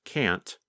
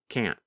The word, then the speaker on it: can't: In the pronunciation video of Lesson 20, you can hear Pete first pronounce can't with the letter T. And then the next time you hear him pronounce it with the held T, can't.